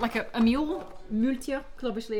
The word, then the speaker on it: Maultier: Maultier.